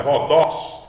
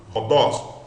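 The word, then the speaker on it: ὁδός: Veja que a acentuação está no dos. Então, é Rodos, forte, sílaba forte é a última. Rodos.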